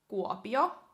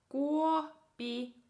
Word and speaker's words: Kuopio: Okay, and then the next is Kuopio. Kuopio, which kind of center east, center right of Finland is Kuopio.